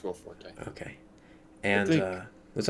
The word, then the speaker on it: Will Forte: Yeah, it's Will Forte.